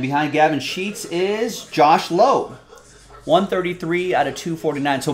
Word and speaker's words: Lowe: and behind gavin sheets is josh lowe 133 out of 249 so brandon pronounces it lao and josh pronounces it low tampa bay rays it's